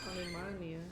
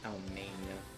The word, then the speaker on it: Alemania: Alemania. Alemania. Not Almania.